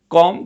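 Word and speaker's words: comb: your hair यहां पर कॉम का मतलब है या फिर बाल धो लें और आप ध्यान देंगे जब भी आप सी ओ एम बी कॉम बोलेंगे तो यहां पर साइलेंट है आप चाहे तो याद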